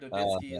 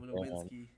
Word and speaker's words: Nowitzki: Like V's are W's are V's in German. That's why Dirk Nowitzki is Dirk Nowitzki instead of Nowitzki.